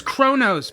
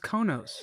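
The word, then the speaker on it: Qo'noS: See, he says Kronos, but it's pronounced Konos. No, Kronos. It's Kronos. But it's spelled Konos. So where's the R sound? It's a Kronos. It's the opposite. It's the antithesis of a silent letter. It's a soundly R.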